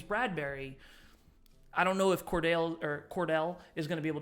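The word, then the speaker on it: Cordale: It was Cordero, or is that how you say his name? Yeah, Cordero Flott. Cornerback. Cordell? Yeah, Cordell, excuse me.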